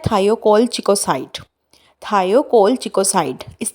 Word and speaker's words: thiocolchicoside: या फार्मूला है वो क्या है वो है थायो कोल चिको साइट थायो कोल चिको साइड इस तरह से आपने इसको प्रोनाउंस करना है ठीक है और मस्कल इसका